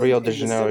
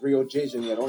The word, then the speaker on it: Rio de Janeiro: That's right, it's pronounced Rio de Janeiro, not Rio de Janeiro. Get it right, we're not in Mexico. This is Portuguese, not Spanish.